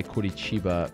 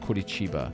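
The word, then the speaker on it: Curitiba: on point with my Kurichiba pronunciation. And then I have someone else saying that please stop saying it. It's insulting. It's not Kichiba. That's a Rio accent, not all of Brazil.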